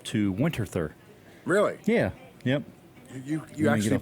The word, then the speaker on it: Winterthur: to go up - winterthur really yeah yep you pronounced that correctly no actually I think it's like a winter tour I think what really